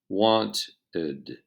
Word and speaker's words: wanted: When ed is added to verbs that end in t, pronounce the last syllable separately, just like we did with this rule. For example, the verb want. We add ed and pronounce ed, so I want becomes I wanted, I wanted.